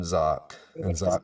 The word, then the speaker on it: Zach: instagram as well right yeah it's zock spell like bach z-a-c-h thanks for getting the pronunciation right that's a rare that's a rare